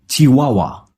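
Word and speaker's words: Chihuahua: वही उसकी ब्रेड है चूहा हुआ चिहुआहुआ इसे सही तरीके से प्रोनाउंस कैसे करना है चिहुआहुआ साउंड जो होता है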